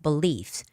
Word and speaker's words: belief: So the stress goes on the second syllable, beliefs.